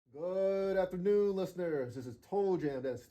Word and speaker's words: Toll Jam: I like to spell it out when I when I'm doing my intros because like it sounds like to jam, but it's like toll jam, like to O L.